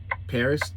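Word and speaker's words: Perris: It's in I call it Paris, P-E-R-R-I-S, Paris, or I've heard it pronounced Paris, California.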